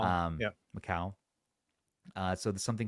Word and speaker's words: Macau: sub8 $800 shipments from China, Hong Kong and Mac Mau how do you say that? Macau. Um Macau.